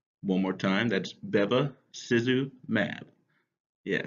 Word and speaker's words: bevacizumab: these are funny words make sure we can pronounce them it's babba Suzu mab one more time that's debe Suzu mad yeah say with me Bevis is mad we